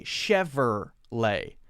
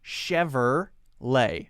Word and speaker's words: Chevrolet: ever let but it's not some people say Chevrolet and Who am I to say that they're wrong so you'll either hear Chevrolet or Scheffer lay people do say Chevrolet now actually the most